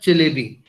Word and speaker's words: Çelebi: Ye jo C ke niche comma sa hota hai na, ye Turkish mein isko che pronounce karte hain.